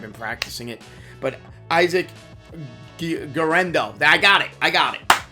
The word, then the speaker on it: Guerendo: Now, at the running back position, I'm going to mispronounce it, and I've been practicing it, but Isaac Guerendo. I got it. Guerendo.